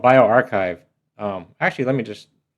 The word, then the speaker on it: bioRxiv: it properly, so I'll just type in here bioarchchive. spelled correct but incorrect because the actual website is this one here. Bio B I O and then capital R X I V pronounced bioarchchive.